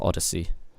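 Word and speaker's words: Oddisee: time I'm featuring Odyssey I presume it's pronounced as Odyssey o d d i s e let's go straight in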